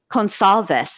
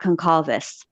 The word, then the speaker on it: Gonsalves: But I would say Gonsalves, not Concalves.